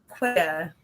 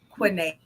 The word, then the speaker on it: Quinea: Of course, it's Quinea. Doesn't look like it, but that's how we pronounce it, baby. Quinea.